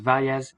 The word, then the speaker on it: Vallis: My last name is Vallis. Really should be pronounced Valles, but it's just kind of surreal how very similar to it as well.